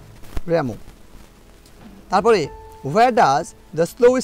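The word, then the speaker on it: Rimbaud: Asleep in the valley কবিতাটা লিখেছেন Arthur, এমনি আমরা বাংলার মতো করে যদি উচ্চারণ করি তাহলে আর্থার রিমবট, আর এটা আর্থার র্যামো।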